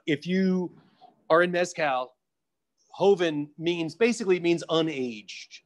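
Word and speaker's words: joven: mezcal of various kinds j-o-v-e-n what does that mean and how do you pronounce it oh hoeven it means young uh so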